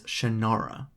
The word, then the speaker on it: Shannara: side note I pronounce it as Shannara although most anyone else seems to pronounce it as shinara in that story the